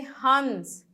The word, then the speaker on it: हंस: तो इस बिंदु का मतलब होता है कि आधा नौ, आधा अक्षर है, आधा नौ यानी हंस। इसको क्या बोलते हैं? हंस। थोड़ा सा नाक से आवाज आएगा और नौ का उच्चारण होगा।